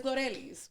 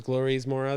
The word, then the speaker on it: Glorelys: Yeah, it's fine, but it's Glorelys.